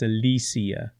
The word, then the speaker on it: Alicia: and why is it Alicia Garcia Alisia you got to say it right it's Alisia because of her wonderful